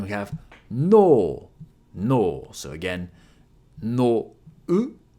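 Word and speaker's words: 脳: have ‘nou’ So again: ‘NO-U’ But when /u/ is placed after an /o/ sound it's going to make it a long vowel So it's not ‘no-u’ it’s ‘nou’ And it means the ‘brain’ Thank you so much for watching!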